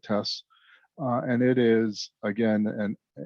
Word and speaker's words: TES: uh pronunciation of so there's tests there's tes there's tez there's teas some folks say the transfer evaluation system internally we just call it tests and it is again